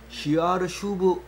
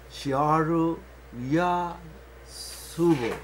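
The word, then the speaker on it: שאר ישוב: 시아르 슈브라고 원어를 써놨는데 그걸 이제 이름으로 지으면서 시아르 야수브 이렇게 된 건데 그 시아르 야수브로 우리말로 번역한 거죠. 지금은 제일 가까운 발음이 시아르 슈브인데 우리가 번역할 땐 시아르 야수브로 번역을 한 겁니다.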